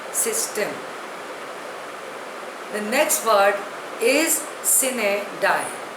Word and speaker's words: sine die: The next word is sine die. Spelling is S-I-N-E-D-I-E. Pronunciation is sine die. It is a Latin word.